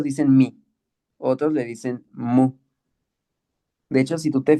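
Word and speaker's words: μ: Pero el nombre de la letra es, como en español es M, en griego es mu. No es, mira, algunos lo dicen mi, otros le dicen mu.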